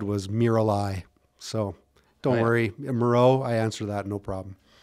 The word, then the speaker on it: Mierau: Mierau. Rhymes with hero. Reggie, how did you pronounce it? Mierau. Yeah. So it's not French. It's actually Dutch background. So that's why it's not EAU. It's not French. It's actually German Dutch background.